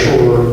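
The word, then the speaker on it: Schroer: In terms of the legal piece, I'm Shore, the Chief Attorney for the department. My last name is spelled S-C-H-R-O-E-R.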